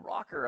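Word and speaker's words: ROKR: uh and and so he's like you know rocker okay it's spelled like right you r k r that's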